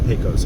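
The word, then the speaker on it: Pecos: side of the 215 Picos posos I say it both ways because I've had folks tell me it's pronounced differently no matter how I pronounce it in the comment section so just want to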